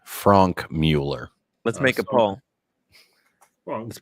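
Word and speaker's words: Franck Muller: Is he saying that Richard Mille will be the Frank Mille in 10 years' time? Please pronounce it correctly. Frank Mueller.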